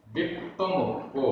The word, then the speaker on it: विप्पमुक्को: कम, आधा मा पूरा मा, कम मल विप्पमुक्को, विप्पमुक्को, आधा पा पूरा पा, आधा का पूरा का, ओ की मात्रा, विप्पमुक्को, कम मल विप्पमुक्को, उद्धम,